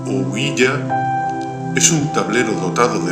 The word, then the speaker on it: ouija: ah la uija según la grafía recomendada por la Real Academia Española oa pronunciado ouya es un tablero dotado